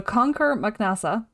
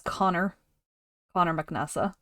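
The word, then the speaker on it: Conchobar mac Nessa: a '90s to so conquer mcasa um also known as Connor Connor mcasa if you want to go with that if that's easier for you um he was the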